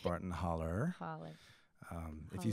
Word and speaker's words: Barton Hollow: Alabama state line and it is properly pronounced Barton holler holler um if you said Barton Hollow back where I'm from